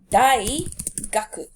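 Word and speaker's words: 大学: pronounce station for uni it is DYI as in daisuki and duck fuzzy duck die gaku die gaku okay so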